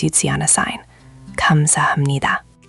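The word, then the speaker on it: 감사합니다: Reading connected text where multiple pronunciation rules work together. Here's a phrase you'd see on a sign. Kamsahamnida.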